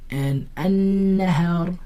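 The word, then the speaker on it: النهار: But when I say an-nahar, did I pronounce the lam? No, I didn't pronounce the lam. Why? Because the lam is silent.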